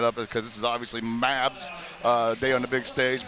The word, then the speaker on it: MAB: MAB, that's how you pronounce it. I was calling it Mob Deep, you know, for a second. I don't know. I mean, it's an acronym.